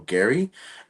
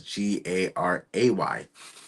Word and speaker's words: Garay: So our next guest is Mario Gary, and I said it wrong before because I accidentally spelled it wrong too because I thought it was Gary, but it was Garay. And he is the host